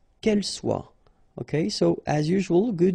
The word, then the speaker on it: soit: que vous soyez, qu'il soit, qu'elle soit. Okay, so as usual, good news is that soit, soit, soit, and then soit here. You write them differently, but then you pronounce them the same way.